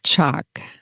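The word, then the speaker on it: Chaac: Yes, Chaak. Chaak, okay. The A is, long A, Chaak.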